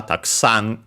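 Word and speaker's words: たくさん: But yeah, it's accented on the sa, taksan.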